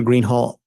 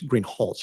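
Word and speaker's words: Greenhalgh: you your honor officer Greenhall I believe I'm mispronouncing your name it's green hch isn't it correct okay I apologize will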